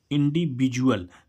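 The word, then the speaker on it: individual: इंडिविजुअल। तो इसका डी का उच्चारण क्या आ रहा है?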